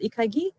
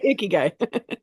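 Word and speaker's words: 生き甲斐: Ikagi? I don't know how to pronounce that word. Close enough. It's Yeah. ikigai. Ikigai. Yes.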